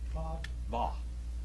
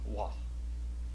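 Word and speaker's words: וָו: Va. Va. They pronounce it with a V.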